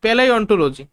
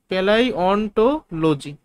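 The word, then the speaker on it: paleontology: উচ্চারণ কি? পেলাই অন্টোলজি। পেলাই অন্টোলজি।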